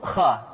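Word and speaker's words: خ: hanha selanjutnya adalah huruf Kha Kha dikeluarkan dari pangkal tenggorokan Kha pangkal tenggorokan diucapkan dengan mengalir nafas atau lebih praktisnya pengucapan huruf k persis terdengar seperti orang yang tidur dalam keadaan mengorok Kha khi khu bak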